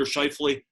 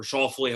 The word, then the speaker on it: Schauffele: I'm going to take Xander Schauffele, or Schauffele, however you want to pronounce it, and he's available at 20-1 on Fox Bet.